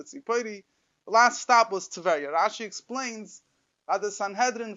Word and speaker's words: Teveriah: The Rebbe used to pronounce it Teveriah.